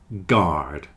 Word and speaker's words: guard: friend guard and guarantee guard and guarantee have a hard G and you don't pronounce the U guard guarantee hole sounds like